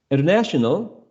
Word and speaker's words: international: left hand corner right primary international international has also a secondary stress that we can see at the very beginning the secondary stress that